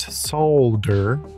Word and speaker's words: solder: destination person I used solder how I pronounce it since I really don't like my L's silent to create a two